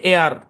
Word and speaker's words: air: এই আর এর জন্য বয়স হলো র, তাহলে নিয়ম অনুযায়ী তো এটা হওয়ার কথা ছিল, তাই এইর, কিন্তু না, এইর হবে না, এটা সাউন্ড হচ্ছে এআর। কেমন একদম সিম্পল, এখানে কোনো প্যাচ মোচন নাই। এআর, ঠিক আছে? AIR উচ্চারণ কি? এআর, মনে থাকবে।